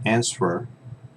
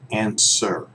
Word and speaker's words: answer: one is answer answer remember we don't pronounce that W here that's silent okay so as in that answer its answer okay look look thanks